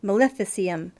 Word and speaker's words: maleficium: necromancy maleficium Melissa I screwed that word up maleficium so it must be connected to the word